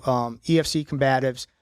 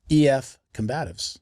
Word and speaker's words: EF Combatives: EF Combatives. Yes. Everybody says EFC Combatives. Yeah, it's really EF Combatives.